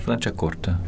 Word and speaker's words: Franciacorta: Is Berluki in Flanchakorta. Exactly. Ah, good pronunciation.